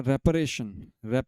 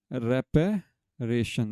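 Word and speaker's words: reparation: इसको आप रिपेरेशन बोलते तो शायद आप PE कर देते हैं कुछ और।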